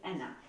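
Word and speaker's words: Enna: was meddrash m-e-d-r-a-s-h and last name is Anna Anna e-n-n-a okay um yeah measure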